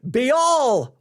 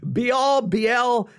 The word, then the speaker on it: Baal: Now, depending on which preacher you listen to, it will be Baal worship. Some will say Baal worship. Some will say Baal worship. Some say, well, Baal. I've heard it pronounced so many different ways. Baal. I'm not here to get into an argument on how to say it, but just say, I'm going to go with Baal because B-A-A-L, I think it works.